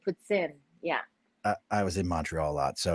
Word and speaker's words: poutine: You have to say it properly. Poutine.